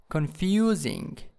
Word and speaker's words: confusing: the next one is confusing confusing in the second syllable here confusing next one